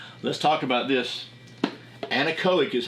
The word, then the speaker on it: Anechoic: Anechoic is how you say that.